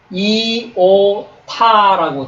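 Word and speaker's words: ι: 읽습니다 예 여기 보시면 이오 타라고 돼 있거든요 이오타 하지만 발음은 이로 난다고 하 예 발음은 이로납니다 예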